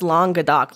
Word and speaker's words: Languedoc: And you're like, no, it's Languedoc, like long dick.